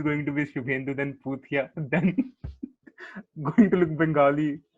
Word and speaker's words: Poothia: Because believe it or not, ladies and gentlemen, my surname is Puthia. I know what it rhymes with.